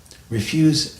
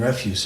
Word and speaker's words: refuse: So, refuse and refuse are spelled the same, but they're pronounced differently. Why is that? So it goes like this. S's. Refuse, verb. Refuse, noun. That's all.